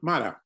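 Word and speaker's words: Mottau: And Eddie Matau. Was that how you pronounce his last name? Yeah, Matau. Yeah.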